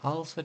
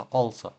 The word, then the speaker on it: also: Але читається не як al, а al читається дуже часто як all. Тому слово також будемо не also читати, а also.